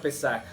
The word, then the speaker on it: Pesaj: La palabra Pascua es de origen griego, pero realmente su etimología está en el hebreo, que quiere decir paso, y se pronuncia Pesaj.